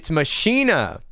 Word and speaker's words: Machina: It's Machina. It's said with a K. McKenna?